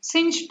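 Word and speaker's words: sinh: of a hyperbolic sine function is defined as sine is not uh not a correct way okay since t is the correct pronunciation sinch t is equal to e raised to t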